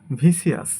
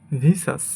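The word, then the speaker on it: vicious: এটাকে আমরা বলি ভিসিয়াস। ভিসিয়াস, বাট সঠিক উচ্চারণ হবে ভিসাস।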